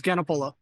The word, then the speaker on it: Ganapola: It's Ganapola. Ganapola. So it's exactly the way it's spelled.